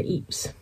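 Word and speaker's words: Ypres: as at Aras and Eeps that's the one that spelled like wi press if that helped you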